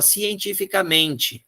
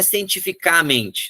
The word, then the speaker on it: cientificamente: Cientificamente, também não, cientificamente. É uma paroxítona. É uma paroxítona natural, não leva acento nenhum. Passou da terceira sílaba de trás para frente, é impossível ter acento.